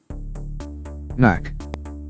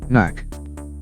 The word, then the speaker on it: knack: Words where letter K is silent. Knack. Knack.